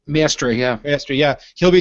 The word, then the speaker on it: Maestri: Luca, how do you pronounce the name? Maestri? Maestri, yeah.